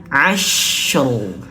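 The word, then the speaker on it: العصر: Maka cara bacanya gimana? Wayalin asru. Asru. Karena ini di depannya ada huruf syin, maka masukkan dulu ke huruf syin as. Dan rnya tebalkan asru asrayalin asr.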